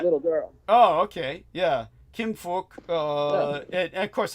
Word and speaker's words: Kim Phuc: Kim Phuc. And of course, every American's going to pronounce that as fuck, which it sounds pretty much like, I have to say.